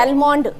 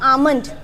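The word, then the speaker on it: almond: English M बच बता आलमंड बेटा इसकी करेक्ट प्रोनंसिएशन क्या होती है आमंड आमंड ठीक है एल साइलेंट होता है तो क्या बोलेंगे इसको आमंड आमंड ड यू नो द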